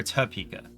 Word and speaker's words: Topeka: uh Cat Cafe that just opened here in Topeka and did I pronounce that Topeka or tapeka cuz locals pronounce it t uh and I have a